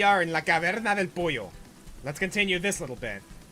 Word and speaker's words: pollo: Okay, so when you have a double L in Spanish, it does the Y sound. So that's why you hear pollo instead of polo.